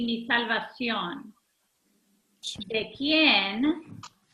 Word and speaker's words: quién: ¿De quién? Right? We need to sound out the QU together and the IEN. ¿Quién temeré? The accent is on the E.